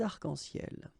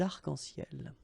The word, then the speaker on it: arcs-en-ciel: the plural form, des arcs-en-ciel. Okay, you can see that as usual we don't really pronounce this final S, so phonetically it's almost the same, but then we've got this liaison between the two, des arcs-en-ciel.